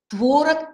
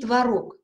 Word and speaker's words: творог: в арктическом стоит и можно и так и так творог и творог первый вариант предпочтительнее но